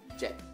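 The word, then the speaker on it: เจ็ด: Kelas menengah saat bertemu dengan konsonan mati ya, atau konsonan endingnya mati, dia akan adanya siang e. Jadinya jet. Jet. Dan ingat, sara e-nya pendek. Jet.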